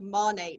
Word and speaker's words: Monat: you even pronounce it it is technically pronounced ma Nate it's the first syllables of the word modern in nature and not only are